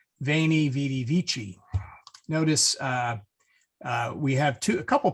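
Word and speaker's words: Veni, vidi, vici: So as I said, Caesar would write Weni Weedy Wiki and would pronounce it Weni Weedy Wiki, whereas Pope Benedict XVI would very sensibly say Veni Vidi Vici.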